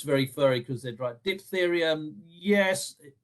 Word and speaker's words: diphtheria: Diphtheria is pH as well, I've just noticed. Diphtheria. Been teaching my granddaughter phonics and realized pH is always pronounced ph, diphtheria.